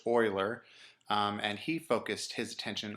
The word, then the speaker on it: Euler: the first one is euler and it is pronounced euler and he focused his attention on the edges